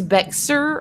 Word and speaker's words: Bexar: say it Beck's are even though it's spelt like bare wrong like if you spelt the word bare wrong B ei R but it's Frenchie because it was part of the Louisiana Purchase so it's Bexar or something is how